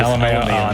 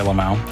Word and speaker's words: LMAO: I didn't know you pronounced the Lamau and Lamau, or I thought it was just LMAO. No, I like to say Lamau. I think it sounds nice.